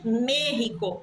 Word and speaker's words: México: ouve os espanhuablantes falando merrico então México se escreve com x porém eles dizem merrico México eles dizem merrico com rota porque antes a língua